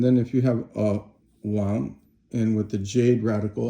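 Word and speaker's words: 王: The next one is Wang, which is it's a second tone, and a lot of Chinese people have that as their name.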